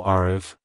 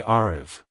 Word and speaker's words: Aarav: sound at the end the r is pronounced softly almost like a gentle D sound like Hello arv Goodbye arv if you found the